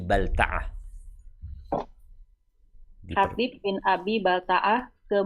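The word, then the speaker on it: بلتعة: Rasulullah sallallahu alaihi wasallam mengutus Hatib bin Abi Balth ke Muqauukis. Penguasa Hatib bin Abi Baltaah. Bacanya Abi Balta'ah.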